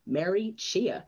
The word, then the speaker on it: Mary Chhea: strategist and a c d ambassador please welcome mary chia hello murray welcome to the show hi thank